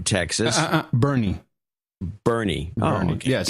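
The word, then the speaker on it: Boerne: Dustin Martin in Salem, Oregon, Judy Schwartz in Bern, Texas. Bernie. Oh, okay. Yes. B-O-E-R-N-E is Bernie's local pronunciation. Nobody in their right mind would call it that except the local.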